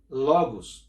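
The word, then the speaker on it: λόγος: Essa palavra verbo, para você que ainda não aprendeu sobre isso, é uma palavra grega que se pronuncia logos, ou seja, conhecimento.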